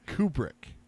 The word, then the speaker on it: Kubrick: the the movie yeah still can't say his name kubrick kubrick did i say right yes in the kubrick